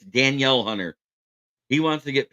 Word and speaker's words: Danielle: hunter or Danielle as it spelled but it's pronounced denil it's Danielle Hunter he wants to get paid like he's